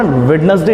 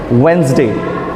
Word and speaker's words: Wednesday: तो मेरा ये मानना है कि इस वर्ड को ना वेडनेसडे नहीं कहते हैं। The correct way एंड the smartest way to pronounce this one इज़ वेंसडे। मेरे साथ आप बोलेंगे वेंसडे।